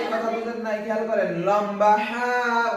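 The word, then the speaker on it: ح: বুঝেন নাই খেয়াল করেন লম্বা হা উচ্চারণে গলার মধ্যে শোষ করে শব্দ হবে লম্বা হা শোষ করে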